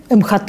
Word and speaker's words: МХТ: Что отличает МХАТ имени Чехова от других театров? МХТ имени Чехова, правильно говорить.